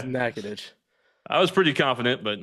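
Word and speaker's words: Natchitoches: my Louisiana friends mad it's not natches no it's it's nackadish I was pretty confident but uh there we anyways 6 p.m.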